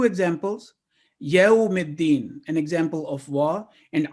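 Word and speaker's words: يوم الدين: For example, in yawmiddin, if we say yawmiddin, it will not be the correct pronunciation. Yawmiddin.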